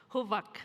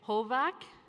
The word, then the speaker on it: Huvak: Huvak. I get a lot of people saying Hovak. It's not Hovak, it's Huvak.